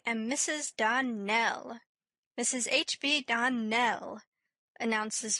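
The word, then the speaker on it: Donnell: Clarice Elmyra told me that you pronounced our name Donald. Now, Miss Shirley, the correct pronunciation of our name is Darnell. Accent on the last syllable.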